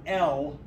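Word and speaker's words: אֶל: The word El has an E sound like the English word bell.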